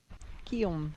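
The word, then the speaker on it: Guillaume: So, Gom is how you pronounce the men's leader right now, and it's the French name for William. Guom.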